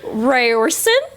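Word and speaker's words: Riorson: Ryersonen.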